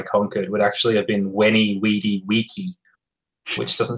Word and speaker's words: Veni, Vidi, Vici: Like, for example, the letter V, like as in Viking, there's a school of thought that letter was actually pronounced with a W sound by the Romans. Viking. So Julius Caesar's famous Veni, Vidi, Vici, I came, I saw,